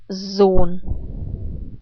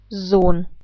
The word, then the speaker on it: Sohn: The rules are that vowels and umlaute are always pronounced in a long way if they happen before an H, an H. And in this case, that is the case. And for this reason, the O is not pronounced like O, but like O.